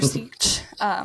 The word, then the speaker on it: Sietch: in your house or your tribe, in your sietch.